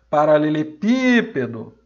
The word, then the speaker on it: Paralelepípedo: Aí eu vou pronunciar a palavra toda. Paralelepípedo. Descobri que a sílaba mais forte é essa daqui, é o pi. E ela está na antepenúltima sílaba.